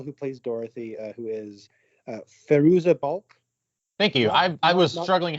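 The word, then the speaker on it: Fairuza Balk: I think the girl who plays Dorothy, who is Feruza Balk. Thank you. I was struggling how to pronounce that. Yeah. Not Veruca Salt, Feruza Balk.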